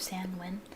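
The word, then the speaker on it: Samhain: to reverse the actual Wicca holiday which is samwin um so if you are Wicca please have a happy and safe Sam win Sam win I've been pronouncing it wrong for the longest time because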